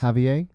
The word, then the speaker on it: Javier: dennis hopeless uh heavier heavier rodriguez that is how you say it right yes javier javier javier rodriguez penciller and